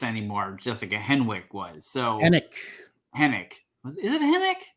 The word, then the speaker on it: Henwick: So Hennick. Is it Hennick? There's a W, but you don't pronounce it.